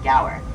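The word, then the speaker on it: gaur: In that huge pasture, we'll be on the lookout for some very large cow-like animals known as the gower. And that's spelled G A U R in case you were curious.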